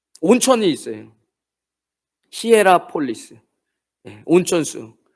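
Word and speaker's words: Hierapolis: 적혀 있는 이 라오디게 교회의 식수의 공급이 시라보엘라 발음이 안 되네. 뭐였죠? 히에보엘라인가요? 그 온천이 있어요. 히에라폴리스.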